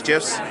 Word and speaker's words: GIF: like gifs and yes I pronounce it with a soft J it's gifs you got drama you got